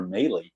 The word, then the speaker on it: Mahle: At least I think it's pronounced Mahle, not Malley. I'm pretty sure it's Mahle.